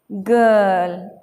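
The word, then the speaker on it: girl: आपको एक वर्ड और याद आ रहा होगा, गर्ल। हम इसे क्या पढ़ेंगे, गर्ल, क्योंकि आई के बाद आर आता है तो वो आई, आर साइलेंट हो जाता है और आई की आवाज़ अ में हो जाती है।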